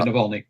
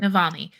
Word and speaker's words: Navalny: don't know that after what he did to Navalny, how do you say his name, Patrick? Yeah, Navalny. That's right. Navalny.